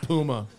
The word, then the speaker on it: Puma: Ford Racing Puma no that's definitely pronounced Puma Pumas are shoes yeah